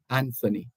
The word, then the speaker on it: Anthony: his name, Anthony, Anthony, Anthony. But based on existing principles, etc., it's Anthony. So the H is supposed to be silent.